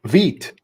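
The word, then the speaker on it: Vite: Oh, Vit. Vit. All right. That's how we pronounce that.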